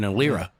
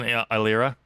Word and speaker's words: Eilira: Kind of like the E in Eilira.